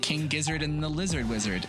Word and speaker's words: King Gizzard and the Lizard Wizard: fan favorites like Taylor Swift, Daft Punk, and King Gizzard and the Lizard Wizard.